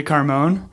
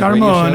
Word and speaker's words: Carmone: I'm I'm from Jay Carmon. Jay Carm. See I think I was pronouncing the E uh maybe once on the Carone.